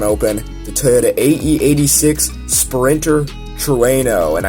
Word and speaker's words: Trueno: the toyota ae86 sprinter truano and i had to search up how to pronounce that that's the actual proper way to pronounce it truano it's it's a really